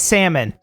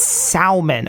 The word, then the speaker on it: salmon: understand okay black and salmon I know it's salmon don't don't get ey right with me it's salmon okay it is spelled s a l here no no no